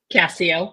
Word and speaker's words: Cascio: Today, I have with me the fabulous and wonderful Margaret Cascio. Am I pronouncing that correctly? Cascio, but that's close.